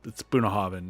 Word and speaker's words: Bunnahabhain: Yes, that's unpronounceable, folks, when you look at it. But I promise you, it's Bunnahabhain is how you pronounce it.